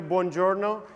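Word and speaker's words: buongiorno: correctly can you help me please all together bonjourno when I say three two one bjo was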